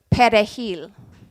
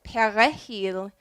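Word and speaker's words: perejil: they asked them to pronounce the word pet a heel which means parsley the French and Haitian Creole are is much more toward the back of the mouth so if they said para heel then they were also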